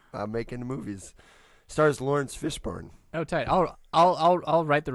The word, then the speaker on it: Fishburne: Fishborn. It's What? Fishborn. Yeah, definitely. Get Like- the fuck Yeah, look outta at the spelling. It's I've never heard of Bourne. Yeah, Born. Fishburne.